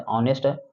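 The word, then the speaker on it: honest: यानी कि इसका अगर देखा जाए तो ऑनेस्ट उच्चारण हो रहा है। यानी कि अ जो है एक वोवेल साउंड से शुरू हो रहा है।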